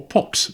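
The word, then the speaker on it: POCs: a potential officer cadet or pox as they were known. Um I think pronounced with an X rather than C.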